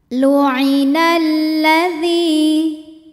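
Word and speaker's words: لعن الذين: Lam yang sukun tidak dibaca, kita baca langsung ke lam fathah, maka disebut dengan idgham syamsi. Lu'inal ladzi.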